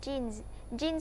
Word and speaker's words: jeans: Và nhớ là cái âm S này mình sẽ không đọc là S, mà mình đọc là Z.